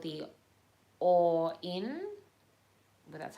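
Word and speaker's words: Auryn: a portal and uh that is called the or in well that's how you say it and it's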